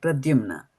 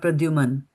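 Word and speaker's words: Pradyumna: I'm I'm one thing it's prraumna right that's the name Prajimna and not Prajuman right that's how we pronounce it okay so that's there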